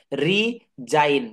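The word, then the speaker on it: resign: রি জাইন, যেমন বলে না অমুক চাকরি থেকে মিস্টার সুমন বা মিস্টার অমুক ডিজাইন দিয়েছে।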